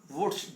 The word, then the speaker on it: Wurtz: इसका नाम है वुड्स, WURTZ, वुड्स अभिक्रिया।